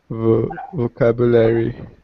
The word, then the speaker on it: vocabulary: a hard one again vocabulary yeah and try maybe pronouncing that long u sound vocabulary vocabulary yeah vocabulary vocab